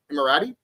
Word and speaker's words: Emirati: Did I pronounce that right? Emirati? You got it right.